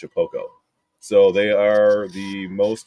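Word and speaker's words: Shapeoko: So it's spelled Shapioko, but it's pronounced Shapoko.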